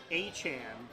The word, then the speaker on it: Etienne: His last name, Etienne, is supposed to be pronounced Achan, which means that Devin Achan and Travis Achan